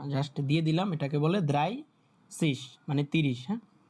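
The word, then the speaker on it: dreißig: ওকে এখানে আসেন এবার এই যে দ্রাই দ্রাইসিস কালার কই? এই যে এটা হচ্ছে 30 হ্যা যেটা নিয়ে সবাই উচ্চারণ করতে এটা হচ্ছে দ্রাইসিস এ উচ্চারণ হবে দ্রাইসিস আর কালকে তো নাম্বারের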